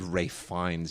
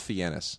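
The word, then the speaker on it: Fiennes: family thing all of a sudden it would R finds you want to have like a you know make it sound all distinguished no his name is Ralph fenus well well wait so his real name is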